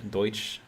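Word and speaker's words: Deutsch: let's see Carl s says uh so my pronunciation is De uh sounds like deut it's our word for German language Deutch de deuts deuts Land is Our word for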